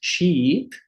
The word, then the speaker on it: sheep: vogar nós temos aqui Sheep Sheep né de ovelha né Sheep porque se eu falo ship ship seria um naviu né agora ship ship que na transcrição na escrita é com são com dois v a gente tem o i longo Então essa diferença aqui